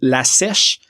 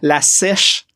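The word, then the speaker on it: La Sesh: Puis c'est ça d'ailleurs aussi, Total Waste, allez voir, mais il y a La Sèche, le S-E-S-H et non S-H-E-S-H comme j'avais prononcé, La Sèche, la session dans le fond.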